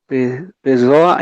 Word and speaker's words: pessoa: So, when there is 2 S's, quando tem 2 S's, o som é normal de S, pessoa. Quando tem um S entre 2 vogais, é o som de Z, poesia. Tá bem? Sim. So, guys, when there are 2 S's, the sound is like S, normal, pessoa.